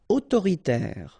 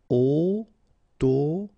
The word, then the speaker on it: autoritaire: Autoritaire, so final not here. Autoritaire, autoritaire.